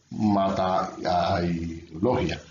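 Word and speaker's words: ματαιολογία: Bueno, ahí está la palabra griega que es un poco difícil de pronunciar, pero es matailogia.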